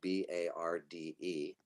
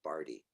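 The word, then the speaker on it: Barde: looks like bard but it's actually appropriately rhymes with party because my last name is barty so i like to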